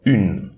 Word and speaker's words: une: Okay, don't pronounce this E, but instead we'll pronounce the N before. Une, d'une, une.